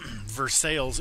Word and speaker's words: Versailles: Versailles, Illinois is how they pronounced it growing up too.